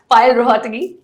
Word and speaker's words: पायल रोहतगी: मेरे साथ पायल रोहतगी. डिड I pronounce it right?